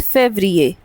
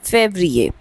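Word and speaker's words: février: वीए then we have फ वी से इट एज़ फेबिए then again F ई वी आर आई ई आर फेब्रिए the next one is March.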